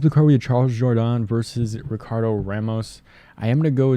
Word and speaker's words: Jourdain: Moved over to Jourdain because I think that's how people were pronouncing it. Like the UFC was doing that, and now they moved back to Jourdain. So I'm trying to fix it.